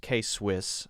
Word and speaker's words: K-Swiss: That one's pronounced K-Swiss.